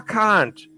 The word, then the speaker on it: conch: Yes, it's pronounced conch. That's what I thought. I said it wrong the first time, and I was like, nope, I don't think that's right.